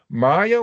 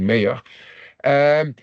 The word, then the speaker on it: Mayer: According to Maya, who is an Oxford professor in corporate governance, I pronounce it in the German way, but I suppose in English it must be something like Mayer.